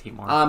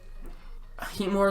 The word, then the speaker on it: Heatmor: Yeah, it's Heatmor.